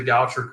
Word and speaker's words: Goucher: I had to look up the pronunciation, and Google told me it's pronounced Goucher.